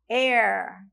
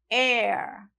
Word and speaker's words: heir: Sim, está escrito com H, mas a pronúncia da palavra, o som é com vogal. Então, a gente fala aquela palavra ali, herdeiro, heir, heir, heir. Então, eu usei um E bem aberto, né?